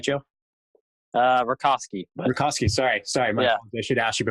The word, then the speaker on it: Rakoski: Rakoski.